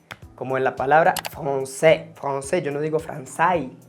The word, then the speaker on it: français: Cuando se junta la A con la I, hace E. Como en la palabra français.